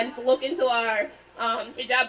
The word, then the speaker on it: hijab: It's hijab, not hijab.